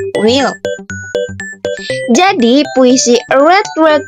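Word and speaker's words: weel: in cloing is will this word means well and this is a scottish style that is deliber used to make the po feel more familiar and war the way to read it is similar to the usual well but the e is larer so it's called will ya will jadi puisi red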